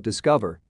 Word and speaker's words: DSCVR: video today we will talk about discover not spelt in the way it is pronounced discover is what we